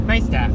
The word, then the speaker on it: Neistat: nice tat, like nice tat. That's how it's pronounced.